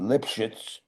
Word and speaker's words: Lipschitz: We were we were born they were born Lipschitz uh, spelled a little differently than Jacques the sculptor. But still pronounced exactly the same way.